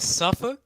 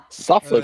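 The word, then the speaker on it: Suffolk: Was it Is it Safuk? No. Suffuk. Okay.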